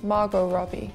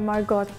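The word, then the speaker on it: Margot Robbie: but like I said if you do not know who she is you could mispronouncing and calling her Margot the tea would be Not So Silent anymore yeah I would say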